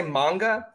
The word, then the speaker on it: manga: me here's the thing if i'm gonna say manga i need to say anime because those are pronounced the same that a vowel is an ah so if you're gonna